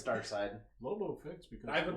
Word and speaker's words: Darkseid: Yeah, I mean, You know, if they don't want, you know, Darkseid. I mean, Darkseid, Lobo however fits, the hell you though. say that dude's Because name. It's Darkseid.